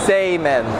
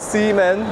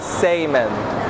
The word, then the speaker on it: Seimen: that I'm saying it, Bukkake Seimen, not semen, but Seimen, like S-E-I men.